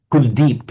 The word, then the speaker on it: Kuldeep: So Kula Deepa in Sanskrit becomes a Kuldeep in the pronunciation of modern Hindi and Punjabi.